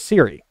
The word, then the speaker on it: Siri: Her name is Siri, S-I-R-I, spelled like Siri, the voice assistant for Apple.